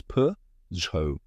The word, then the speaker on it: Peugeot: t it might look tricky but the correct pronunciation is p z let's break it down step by step first